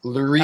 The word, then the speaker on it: Loree: It's pronounced like the word calorie or cutlery. Larry.